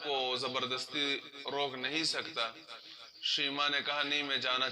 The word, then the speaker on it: شیماء: ہے، بہتر ہے، لیکن یہ نام ہے شیماء، شین پر زبر، آخر میں حمزہ۔ شیما جو ہے اس کا تلفظ پرونانسیشن غلط ہے، اس کا پرونانسیشن شیما غلط ہے، شیما ہے اصل میں لفظ۔